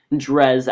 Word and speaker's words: Dres: But anyways, we do get our encounter with Dress here. I'm not sure if I should be pronouncing it Dress or Drez. I more commonly call it Drez, actually, because Dress would be spelt with two S's.